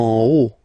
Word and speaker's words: haut: En haut. Okay, final T not pronounced, and then this H as previously, you don't pronounce it, so this is haut.